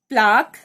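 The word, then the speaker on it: plaque: यहाँ पे k sound को QUE ये अल्टरनेट स्पेलिंग से रिप्रेजेंट किया गया है, ये साउंड कर रहा है इधर k को, because k और C को, because they are French words, they are not English words.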